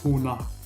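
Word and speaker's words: होना: Être, ça se dit hona. Tous les verbes à l'infinitif se terminent par na en hindi. D'accord? Donc en profondeur, c'est ho plus na. Bien prononcer le H. Ho, c'est pas o, c'est ho.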